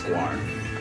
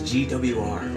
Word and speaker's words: Gwar: I don't even know how to pronounce Gwar. I think you got it. Yeah, oh, okay. For a long time I thought it was GWR or Yeah. GWAR. It's like more like that band Wasp, WASAP.